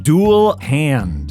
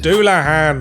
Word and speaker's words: Dullahan: ones I can pronounce an hair jar it's pronounced Anar say tires it's satas okay I think I got this one duel hand duah hand it's a Headless Horseman from Irish folklore you